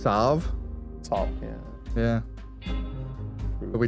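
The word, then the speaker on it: Salve: I was also like technically salv is meant to be pronounced savv.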